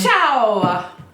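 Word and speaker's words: ciao: any word that ends with a vowel and Chow that's stupid that's how it's pronounced Chow that's still how it's pronounced but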